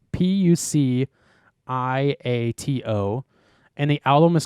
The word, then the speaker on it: Puciato: Last name Puciato, I think it's how it's pronounced. Puciato, and the album is called Child Soldier semicolon or colon.